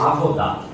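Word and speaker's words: עבודה: E no e-book de trabalho, cultura e fé, você mencionou um termo hebraico, como é que foi pronunciado? Avodá.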